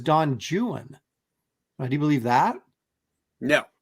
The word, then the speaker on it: Don Juan: poetry teacher say that it was not Don Juan it was Don jwan do you believe that